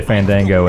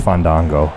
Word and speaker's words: Fandango: part of his game because people say Fandango and he refuses to wrestle him until they pronounce his name correctly so it's Fandango Fango okay that's pretty great he's